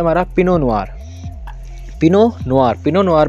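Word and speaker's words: Pinot Noir: पिनो नुआर, पिनो नुआर में T silent रहेगा हमारा। पिनो नुआर हम बोलेंगे पिनो नुआर, ना कि पिनोट नुआर, पिनो नुआर।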